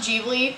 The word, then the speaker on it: Ghibli: You know, this is really embarrassing, but today I just found out it's pronounced Ghibli. As an Italian speaker, I've been saying Ghibli this whole time. Apparently Hayao Miyazaki says Ghibli, so I'm going to try to remember that for this video.